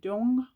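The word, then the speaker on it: Duong: Dong Dong. Okay. I'm pronouncing that way wrong. D U O N G. Dong.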